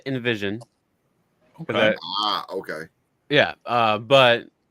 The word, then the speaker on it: NVSN: music at so um our name is actually pronounced Invision ah okay yeah uh